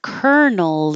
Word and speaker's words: colonel: Kernel, kernel. So the colonel is my parent.